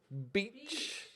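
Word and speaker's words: Beich: to plant it curly how do you pronounce his surname be e i CH beach beach now and this [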